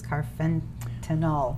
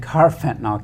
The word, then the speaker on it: carfentanil: said it was, I'm going to try to pronounce this, carfentanil.